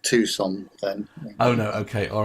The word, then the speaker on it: Tucson: We won't mention it's pronounced Tucson then.